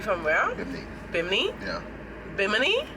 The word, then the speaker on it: Bimini: where you think yeah bimini bim knee that's how you all pronounce it yeah that's that's you